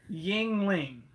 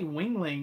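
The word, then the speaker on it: Yuengling: Yingling. Is that it? Yeah. Okay. I say Wingling whenever I look at it. Like, it looks like it would say Wingling.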